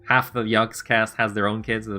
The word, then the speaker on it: Yogscast: KT, is it still Yogcast to some degree? Like, people there are still Yogcast fans? Yogcats? Yogcats! Yogscast. Oh, yeah, I can't pronounce that S.